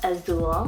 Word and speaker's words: Azul: just like ellaria and ellario here i have azul spell a-z-u-l but i also have for a